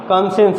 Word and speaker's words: conscience: ठीक, और उसके बाद ये वर्ड है कॉन्सेंस की, ये CONSCIENCE, कॉन्सेंस, इसमें क्या है, सी लेटर साइलेंट है।